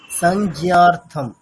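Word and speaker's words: সংজ্ঞার্থং: এখানে হচ্ছে মানে যেমন আমরা বাংলাতে যেমন করি সংজ্ঞা, মানে অনুসারের উচ্চারণ ঠিক যেমন হয় সেরকমই, সংজ্ঞা সংজ্ঞা। আচ্ছা, ঠিক আছে স্যার।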